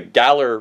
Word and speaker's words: Galar: on the back you have the region the Galler region or pronounce it again for gar galar region so like I don't want to do